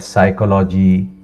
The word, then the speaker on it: psychology: Sometimes they say that psychology, P is silent.